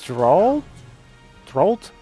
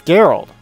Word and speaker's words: Geralt: is Soul Calibur 6 next up is drawl throat or drawled I do not know how it's pronounced I have not played the game let's see what he says here actually it's Gerald let's go I've completely and utterly wrong but that's ok that's